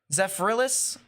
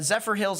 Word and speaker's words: Zephyrhills: uh near the uh zephyrhillis or Zephyr Hills I should say areas I think this